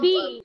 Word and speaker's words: fille: Yes, the Fee. pronunciation. The pronunciation is fee.